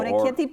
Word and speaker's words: orecchiette: The orecchiette pasti? Orecchiette. Thank you. Yeah. Thank you for helping pronounce it.